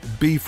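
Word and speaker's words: Boeuf: Here is an email from Tom, and the title of this story is Beef River Tales. Beef is spelled B-O-E-U-F.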